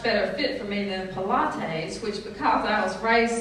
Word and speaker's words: Pilates: Until my unchurched heathen friend told me it had nothing to do with Pontius Pilate. True story, y'all. It's pronounced Pilates, she said with clear irritation.